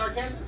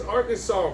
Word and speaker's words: Arkansas: arkansas baby arkansas yeah it's not our kansas it's not kind of it's arkansas bro sorry for everyone